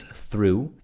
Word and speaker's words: through: words here one is through and one is vegetable I think with through it's the th sound the th sound not a lot of languages have this as well as the spelling might throw some people